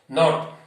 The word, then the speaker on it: knot: Knot, K-N-O-T. It is pronounced as knot.